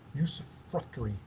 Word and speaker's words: usufructuary: Usufructuary. Damien, did I pronounce that correctly?